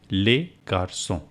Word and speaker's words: garçons: But s remain silent. Le garçon, les garçons. See, I am not pronouncing s. S remains silent.